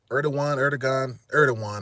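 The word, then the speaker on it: Erdoğan: Matter of fact, Erdogan, the president of Turkey, Erdogan, I believe is how they say it. The G is a W.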